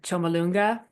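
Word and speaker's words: Chomolungma: Chumalonga is is means the mother goddess earth is is what the Tibetans name.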